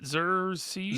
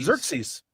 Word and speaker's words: Xerxes: Xeries. Xerxes. Zer. So, okay. Xerxes. Yeah. You know, God King 300 Xerxes. Yeah. Oh, I see the resemblance. Just need some Yeah. some piercings. Yeah. Well, uh before Xerxes was my call sign, there was a hot